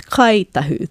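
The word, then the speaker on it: Ngāi Tahu: For example, the ng of Ngai Tahu, our iwi down south, they will pronounce it as Kai Tahu, the k or k sound.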